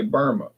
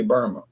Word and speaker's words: Burma: English people say Burma. Americans say Burma. But some of the people in in the capital said, "No, it's pronounced Myanmar." But then some Burmese people over here say, "No, that's what the the ruling party said, Myanmar." But some people in the in the country say Burma and they say no